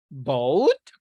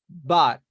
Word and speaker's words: but: Boat? Is it boat? I don't know the sound. The pronunciation, you mean? Yeah. But. Bout. No, But. it is not boat. It is not bout. It is but. But.